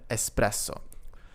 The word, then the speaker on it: espresso: Careful not to pronounce the word espresso with an X. There is no X in the word, simply just un espresso.